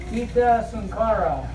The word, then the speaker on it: Geeta Sunkara: Geeta Sunkara. Is that how you say it? How you say your name? You said very good.